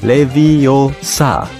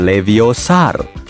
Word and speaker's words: Leviosa: butuh bantuan Hei Siri yang benar Leviosa bukan leviosar aplikasi pengukur Apa alat